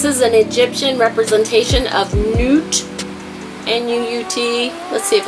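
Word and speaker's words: Nut: financial decision this is an Egyptian representation of Newt and uut let's see if it's felt that way nope they spell it n UT here anyway Newt is the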